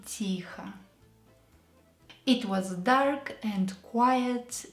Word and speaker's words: Тихо: В комнате было темно и тихо. It was dark and quiet in the room. Тихо. Quietly. So E is stressed, O is not stressed. Let's pronounce it as A to sound like native.